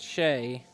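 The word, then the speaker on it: Shea: Shia is pronounced Shay.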